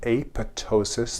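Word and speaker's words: apoptosis: in a process called aptosis. The pis silent that's programmed cell death and we'll talk about that later in the course.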